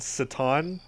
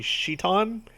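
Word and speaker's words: Citan: wedding by the way Doc's name is spelled sit on it is actually like it was deliberately changed to that because it's supposed to be sheet on but I think they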